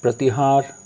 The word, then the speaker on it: Pratihar: to remind you that the sound of this word here is pratiharas, but you should not pronounce it like pratihara. You should pronounce it pratihar. Pratihar.